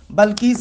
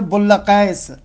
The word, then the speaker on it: بلقیس: دیکھیں جو جناب بلقیس، حالانکہ مشہور ہمارے ہاں بلقیس ہے، ہم اسی لیے بلقیس کہہ رہے ہیں، لیکن اصل میں تلفظ ہے بلقیس، کہ عجیب ہے یہ.